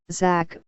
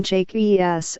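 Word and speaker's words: Jaques: We also need to know, however, that the A is pronounced like a long A, which makes the name Jake E.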